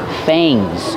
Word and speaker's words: fang: long teeth right here fangs when when you see a and g make the long a like say and pay Fang fangs snakes usually